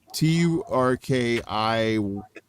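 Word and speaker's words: Türkiye: How do you pronounce that? Turkey. Turkiye.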